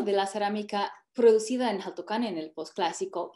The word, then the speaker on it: Jaltocán: Obviamente era Xaltocan en náhuatl, en el posclásico, pero la comunidad actual lo pronuncia Jaltocán, entonces yo hago igual.